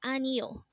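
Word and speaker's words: 아니요: book this word is anio again this is pronounced as anio and this is a polite way of saying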